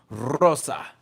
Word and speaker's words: Rosa: No, you got to roll your R with the shit. Rosa.